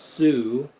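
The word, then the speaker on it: Sioux: Oh, see there's also the Sue Indians. S I UX or SIO UX. The Sue Indians. It looks like Suix or Sex or something. The chef tell them what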